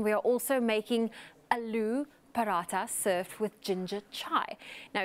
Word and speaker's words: Paratha: The paratha. Aloo Paratha. Paratha. Yeah, so there's kind of emphasis on the TH.